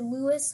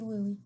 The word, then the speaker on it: Louis: Louie up if I if I said Louis I'm sorry for the Miss for the pronunciation mistake it should be Louie long ago I had